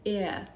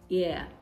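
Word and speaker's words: heir: Okay, so you have it, you have examples like air, air. It starts with the letter H, but the H is absolutely silent.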